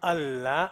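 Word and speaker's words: الله: Jadi cara pengucapannya, kalau sebelum Allah itu ada fathah, berarti dia tebal lamnya. Kalau sebelumnya kasroh garis bawah berarti bacanya tipis.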